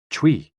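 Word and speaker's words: chui: associated with the lungs c-h-u-i pronounced like tree with a forceful exhale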